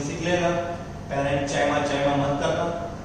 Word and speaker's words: parenchyma: Pronunciation सीख लेना. parenchyma, chyma मत करना. collenchyma, sclerenchyma. parenchyma, collenchyma, sclerenchyma.